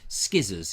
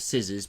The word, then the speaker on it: scissors: Richard Suggett said yesterday, skizzers. He says skizzers. I mean, it's a very common one, isn't it? Skizzers instead of scissors, because some people think that's how it's actually pronounced by the words.